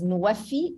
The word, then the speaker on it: Nuwafi: Nexus of water, food, and energy in Arabic is pronounced as Nuwafi. Nuwafi means fulfilling pledges.